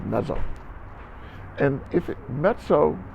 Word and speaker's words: mezzo: put these qualifiers on and the word is pronounced mezzo and if it met so piano precedes the